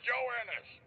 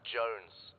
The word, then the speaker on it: Joannis: Private Joannis. Joannis. Joannis, where the hell are you, sir? For the millionth time, my name is pronounced Jones.